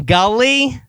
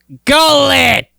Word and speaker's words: Gullet: You mean Gully? Gullet. Wait, can you spell that?